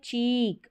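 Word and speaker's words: cheek: का उच्चारण ई छोटा, ये है चीक, और डबल ई को भी बड़ी ई के रूप में प्रोनाउंस करते हैं, ई ए को भी बड़ी ई के रूप में प्रोनाउंस करते हैं, लॉन्ग साउंड प्रोड्यूस होता है, और डबल ई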